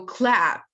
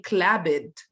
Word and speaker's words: clapped: you add Ed afterwards you shall pronounce the Ed as ta and to be honest that's the most problematic so people are more likely to make mistakes here so clapped clapped it's a clear